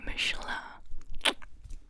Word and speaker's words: Michelin: Pronounce it in the original French. Michelin.